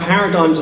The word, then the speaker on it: paradigm: sense of pronunciation because it's got a G but you don't pronounce the G except when you say paradigmatic the rest of the